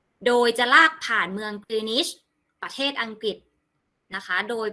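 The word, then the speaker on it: Greenwich: จะ ลาก ผ่าน เมือง กรี นิช ประเทศ อังกฤษ นะ คะ โดย เป็น เวลา ปาน กลาง ของ กรี นิด ที่ ทั่ว ประเทศ ยอม รับ อ่าน ว่า กรีนิช นะ ไม่ ใช่ Green Witch The Green Is Me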